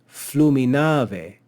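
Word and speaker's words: fluminave: inclinic ve or way in classical Latin and that causes us to add an accent to the last syllable of that word so flumina flumina but with the inclinic added is fluminae flumina way so you can hear how we add that extra accent here we have another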